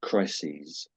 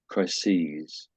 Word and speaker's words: crises: There's no button to press and this word is pronounced crises. So crisis crises.